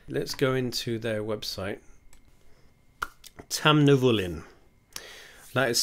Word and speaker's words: Tamnavulin: drink unsuccessful whiskey let's go into their website tam nivolin that is spelt t-a-m-n and you don't care so tucked